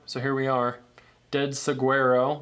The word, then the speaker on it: saguaro: here we are dead saguero which is pronounced Saguaro uh graph Flex Sinister